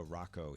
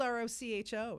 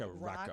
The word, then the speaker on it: Rocho: here, and we have Nobody ever says my name right, so I'm glad. Every time you say it, I'm like, thank you, Bob. You're welcome. It's spelled R-O-C-H-O, so people... Rocho. Rocho. No, But Rebecca it's like Rocco.